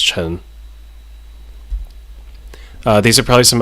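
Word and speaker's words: Ch'en: to be chin um because she had a apostrophe CH apostrophe e n in her name but apparently yeah for whatever reason they put the apostrophe there but her name is just pronounced Chen uh these are probably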